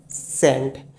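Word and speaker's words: scent: लेकिन जो इसकी फुल स्पेलिंग होती है एस सी ई एन टी। तो यहां पे ये आपका जो सी है ना ये साइलेंट है।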